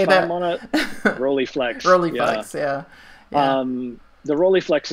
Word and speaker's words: Rolleiflex: You like, I believe it's a, I don't know if I'm going to pronounce this correctly, a Rolleiflex, or how do you say If I'm on that? a Rolleiflex, yeah.